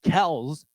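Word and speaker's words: Kelce: one that dates Taylor Swift what's the last kelse kelse Kelsey Kelsey Kel Kel I'm sorry what is it it's supposed to be kelse I thought do you know prounce yeah why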